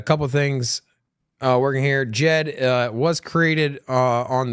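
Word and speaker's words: Djed: as Ada back stablecoin Jed the D is silent in case you didn't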